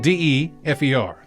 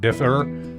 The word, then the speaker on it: de fer: is de fer spelled d-e-f-e-r i thought it was gonna be like differ but luckily they put something on here for stupid people such as me pronounced de fer the translation meaning of